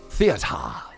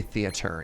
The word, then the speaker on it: Thea: page we have learned Thea you have to pronounce it that way you can't say theater you have to say Thea all right I feel